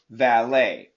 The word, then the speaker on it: valet: Ballet, chalet, valet. Okay, the intonation, the sound is always the same.